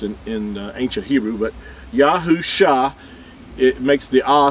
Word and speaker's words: Yahu: is referred to as but in ancient hebrew there was no v or w sound it was it was a ooh sound we're gonna prove this